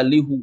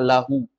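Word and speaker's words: لَهُ: Orang nggak baca lihu, tapi bacanya lahu. Miliknya.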